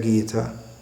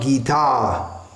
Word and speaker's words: Gita: mahaprabhu kill john andretti Gita not guitar buggered Gita we have been here it's not guitar it's Gita with a short after the term body